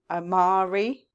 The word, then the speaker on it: Amare: is in the MLM Omari I think that's how you pronounce it it's spell a m a r e and they are a